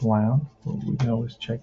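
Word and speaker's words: Lown: is uh oh no turquoise rhymes with town so it's loud just like i pronounced it wow getting good so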